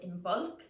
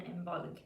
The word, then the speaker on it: Imbolc: far as i know most c's in old irish would actually be pronounced as a g not a c um but plenty of